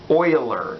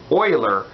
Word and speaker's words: Euler: it looks like euler but it's not it's euler so it's pronounced euler so that's called an euler circuit a graph